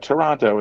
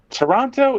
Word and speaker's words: Toronto: Toronto rhymes with Keanu.